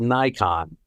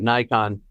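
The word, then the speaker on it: Naikan: of a psychology business psychology world called called Nikon. And in English it's spelled N A I K A N.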